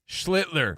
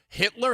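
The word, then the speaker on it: Schlittler: Schlitler. Not like big Poppy who awkwardly was like, "Hitler."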